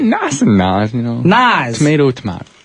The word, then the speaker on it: Nas: the way it's spelled it's actually pronounced Naz with like a z sound okay his real name